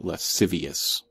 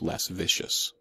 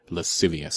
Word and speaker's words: lascivious: favorite words along with lascivious again not pronounced L vicious say it with me lascivious another Awkward Moment In